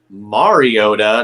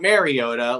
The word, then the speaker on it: Mariota: What stood out to me also was Marcus Mariota, not Mariota, like I've been calling him.